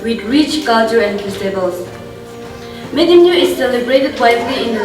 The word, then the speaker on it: Medumneo: The term Medumneo encompasses of three syllables, that is Medumneo. Me, which means soul or spirit, Dum, which means wrap, and Neo, which means feast. So, which means soul wrapping festival.